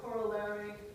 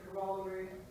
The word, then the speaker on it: corollary: So, as an American, I say corollary. In British, you'd say corollary.